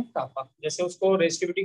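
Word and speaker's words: kappa: Capital के, और इस के को प्रोनाउंस करते हैं बेटा कापा। क्या प्रोनाउंस करते हैं? कापा।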